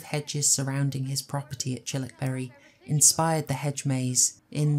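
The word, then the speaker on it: Childwickbury: into a Country Manor called chilik Berry uh for Americans that is written child Wick bu English pronunciation not always reliable and interestingly chilbury was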